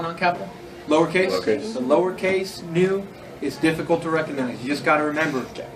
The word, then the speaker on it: nu: The next one also looks nothing like it's pronounced. It's an N. It's a nu.